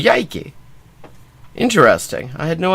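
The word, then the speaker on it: Coyhaique: coyake in Patagonia in there's one in Chile spelled c o y h a i q u e and uh the other one which I only just noticed on the map right now uh is spelled k o y second word a i k e but they're both called yiki interesting ing.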